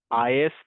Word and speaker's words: IaaS: So under the service delivery model we have further three categories is PAS and SAS. So we pronounce this as is PAS and SAS. is PAS or SAS pronounce is and uh the IS